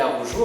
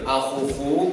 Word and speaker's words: Arrojo: C'est effectivement Olivier Arrojo. Alors je dis ça parce que souvent les gens m'appellent Arrojo ou parfois Arroyo.